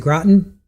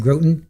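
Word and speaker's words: Groton: Oh is it Graten? Okay. Oh yeah you're right. It is Graten. Yeah I said Groten.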